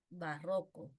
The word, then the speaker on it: barroco: La otra palabra, barroco o barroco. Bien, barroco, grave.